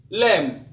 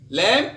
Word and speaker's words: lamb: to the letter b b is silent before t and after m for example dao subtle subtle means bright dead lamb lamb is arm or leg